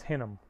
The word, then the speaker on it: Hinnom: And in Hebrew, in the Old Testament, instead of saying Gehenna is how you say it in Greek, you said Hinnom, verse 10.